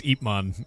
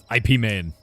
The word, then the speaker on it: Ip Man: Epipman spelled I I guess IP man. You want to I think it's Epipman is the way to pronounce it. Pretty sure. IP man. Yeah, exactly.